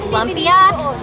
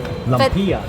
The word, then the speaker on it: lumpia: And at the time, I was pronouncing it all wrong. I think I was calling it lumpia. Lumpia. Lumpia, But no, it is lumpia, and I finally got it.